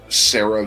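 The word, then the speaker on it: Sera: You have Sarah Vintlace, and it's spelled like Sarah, S-E-R-A. S-E-R.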